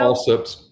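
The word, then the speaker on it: Allsup's: Am I saying it right? Alsups? Is it Alsup? The burrito? Alsups, but yeah.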